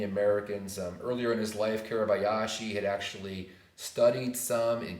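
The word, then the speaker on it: Kuribayashi: His name for the Japanese now, General Caribou Yashi. General Caribou Yashi, I'll spell it for you, K-U-R-I-B-A-Y-A-S-H-I.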